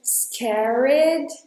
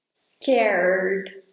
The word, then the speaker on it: scared: And then, when you say the word "scared", don't say the E in the middle, in between R and D. So don't say anything like "scarRED". Don't add any syllables there. Go straight from R to D. "scared"...